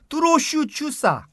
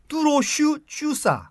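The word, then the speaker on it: túrós csusza: 헝가리 전통의 파스타 요리가 있는데 그 발음이 좀 어렵습니다. 길어요. 뚜로슈 쭈사. 다시 한 번만요. 예. 뚜로슈 쭈사.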